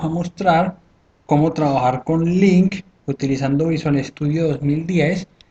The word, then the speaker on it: LINQ: Vamos a llamarlo en este caso Link Project de tipo aplicación de consola y le llamamos Link, porque ese link se escribe con Q, Link Project.